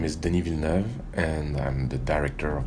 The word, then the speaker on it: Denis Villeneuve: My name is Denis Villeneuve, and I'm the director of Blade Runner 2049. Denis Villeneuve. He says, "My name is Denis Villeneuve."